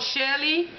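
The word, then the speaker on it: Chelly: These are some new polishes called Shelly, spelled with C-H-E-L-L-Y.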